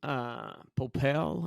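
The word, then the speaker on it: Popeil: Ron Popel, I believe is the correct pronunciation of his last name.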